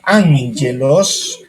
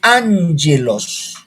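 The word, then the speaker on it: ἄγγελος: Ángelos. Cuando dos gamas se unen, la primera al pronunciarla es N. Ángelos.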